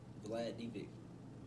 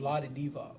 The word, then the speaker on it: Vlade Divac: Vlad Divac. Who? I don't even know who that is. The one on the Kings. Vlade Divac. Yeah. That's how you say it.